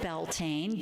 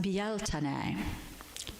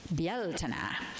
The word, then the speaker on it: Beltane: We call it Beltane, B-E-L-T-A-N-E. It's actually, I learned this week, pronounced byell-te-ne. Byell-te-ne. It's I believe, Irish Gaelic.